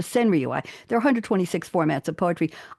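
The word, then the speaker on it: senryū: about people and emotions it becomes a sinu s n r yuu five syllables seven syllables five syllables the same exact number of syllables and count as a haiku but it's called a senrii there're 126 formats of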